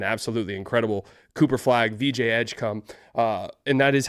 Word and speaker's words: Edgecombe: Cooper flag, VJ Edgecom, uh and that is how you say his name and I can't get over that.